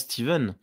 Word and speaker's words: Stephen: et oui mais c'est l'erreur est normale parce que ça se prononce Steven h du coup peut-être